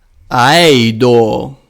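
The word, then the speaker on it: ἀείδω: As you see, I use the diphthongo. I use it with a modern Greek approach, which is a simple e. E. Aido.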